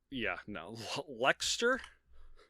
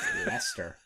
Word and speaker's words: Leicester: Lexter. I'm sure it's way off. No, I don't blame you on this, and I like it. It's Leicester. Like, yeah, okay.